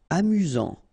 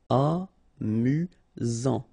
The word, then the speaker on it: amusant: Amusant. Final T not pronounced. You've got only one S here between the vowels, so it's really this Z sound. Amusant.